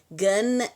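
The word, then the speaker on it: גן: Gun em hebraico quer dizer jardim, mas só que é conun. Por isso que temos que trabalhar bastante a pronúncia para não fazer anasalado.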